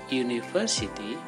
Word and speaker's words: university: umbrella a university when we pronounce University it begins with why University a dolphin when